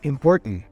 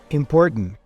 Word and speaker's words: important: says it she says important important what we have here is t plus vowel plus n t a n in those cases what happens is first of all the vowel disappears so in this case